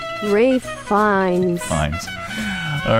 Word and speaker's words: Ralph: He said, I think it's the case that the spelling uh, R A L P H used to be pronounced Rafe.